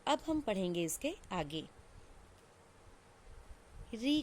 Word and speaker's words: ऋ: तो अब हम पढ़ेंगे इसके आगे री का प्रयोग। तो देखिए, री एक स्वर है, परंतु हिंदी में इसका उच्चारण री की तरह होने लगा है।